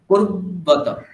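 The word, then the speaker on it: कुर्वत: কয় হর্ষকার, তারপর র ব একটা হলন্ত কল্পনা করুন, তারপর বকার বলুন। কুর্বাতা, কিমা কুর্বাতা, বুঝতে পারছেন? কিমা কিমা কুর্বাতা। কুর্বতা। হ্যাঁ, হ্যাঁ, তাহলে সুন্দর লাগবে শুনতে উচ্চারণটা।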